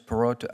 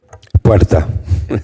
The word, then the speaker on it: Puerta: Perota, how do you say your last name, sir? Puerta. Puerta. It's okay, though. I understand. You can't roll the R's.